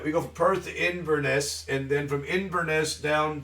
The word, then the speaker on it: Inverness: uh uh inous iness it's three syllables Vinnie iness um the uh we go from pers to Inverness and then from Ines